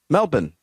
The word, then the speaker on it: Melbourne: Melbourne, did I say that correctly? No. Mel- Melbourne. Okay. You're you're you're pronouncing the bourne too much.